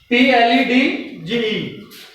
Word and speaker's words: pledge: is situated before G then D will be silent and the pronunciation will be h p l e d g e did before GE they will be silent and the pronunciation will be pledge in this way when